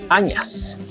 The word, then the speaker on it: añas: Inquua es añas. Ya, añas, así aceptas, tal como se está pronunciando.